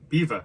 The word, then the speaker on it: BVA: her to tell me you pronounce it eva which is beaver sorry i was only